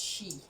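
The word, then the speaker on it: sidhe: have the c the she is spelled s-i-d-h-e but it's pronounced she apparently so what we're gonna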